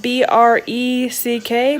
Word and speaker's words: breck: But if you guys know what breck is from Albania or any other country, and we spell it B-R-E-C-K, breck. Seth calls them bricks with an I.